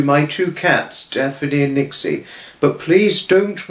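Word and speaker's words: Nyxie: two cats, Daphne and Nixie. But please don't worry about mistaking Nixie's name for Trixie. It's an easy mistake to make, but I know you now know it's Nixie now.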